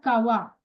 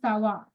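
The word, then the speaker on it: ça va: phonetical sound of this C is deliberately s not C. Example here is gar not gar. Remember sometimes back you have learned sava sava. So it is not kawa it is sava.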